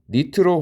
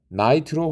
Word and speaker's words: 나이트로: 질산 에스테르류가 질산 에스터류, 그리고 니트로 화합물은 나이트로 화합물. 자, 니트로가 원래 이렇게 쓰는데 일본식으로 읽었다면 이제 미국식으로 읽는 것이죠.